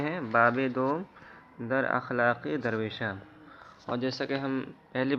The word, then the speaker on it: درویش: کی جمع ہے درویشاں، درویش کے معنی فقیر کے آتے ہیں۔ تو اس کا صحیح تلفظ درویش ہے، بعض لوگ درویش پڑھتے ہیں، وہ غلط تلفظ ہے۔ تو باب دوم در